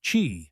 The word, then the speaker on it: Qi: The most common standard is Qi, pronounced Qi, which is supported by most modern smartphones, wireless earbuds, and even electric toothbrushes.